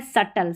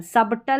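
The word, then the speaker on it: subtle: Doubt यहां पर है सटल। सबटल नहीं पढ़ना। सटल सटल।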